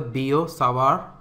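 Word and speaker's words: Biot-Savart: now talk about the boo Saar law so notice that in the pronunciation this T is silent so this is given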